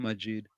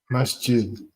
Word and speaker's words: Masjid: in front of Muslim Majid. He has no shame. Masjid. I pronounce that Masjid or Majid? Masjid. Masjid, okay. Wall Street, how Kamala bringing money into the country.